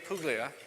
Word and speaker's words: Puglia: Our panelists this morning are Rick Clausen, Leo Wallach, and Puglia. I tried to say that right, it's the soft G.